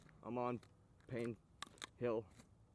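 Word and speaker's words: Payne: There was yesterday when I was on 10th South Hill and Pain Street. Keep going down that pain street. P A Y N E. That's how you annunciate it or spell it.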